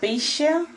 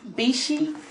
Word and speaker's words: Beshe: the austin wig by bisha bishi i think that's how you pronounce it um and i got